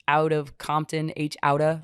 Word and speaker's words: H Outta: It is H out of Compton, H Outta, like gangsters. So you don't say it like a white person, like H out of Compton. It is H Outta.